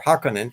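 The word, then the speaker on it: Harkonnen: they was depicting uh Baron harconen or hakunan as they pronounce him in the uh the new Doom version um I I give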